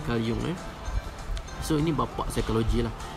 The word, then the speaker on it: Carl Jung: Ejaan dia memanglah Carl Jung, tapi sebenarnya sebutan dia Carl Jung.